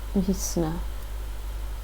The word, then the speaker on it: весна: When not stressed, we pronounce the letters ya, as a short e. Река. Rika. Река. Это река. Это река. Весна. Visna. And the word Visna, that's yes, true.